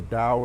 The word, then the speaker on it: Taoist: presence you go into what I call the Dow a smiling down technique the Taoist ta o ist spelt with a t tau tau is smiling down